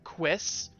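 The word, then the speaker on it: Cuisse: The correct pronunciation for Kiln Testraby's chest item was Quiss, making sure to give all of the relevant info we need.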